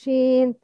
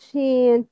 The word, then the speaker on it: ش: Where is the makhraj of sheen? The sound come from where? Come from where? Yes, it's emitted from the middle of the tongue with the middle of the roof of the mouth that lays opposite to it, as in sha, sha.